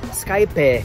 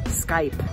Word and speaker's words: Skype: German see the word Skype their first reaction is to pronounce it Skype a but that's boss D fiamma heist Skype one syllable call it Skype I recently had an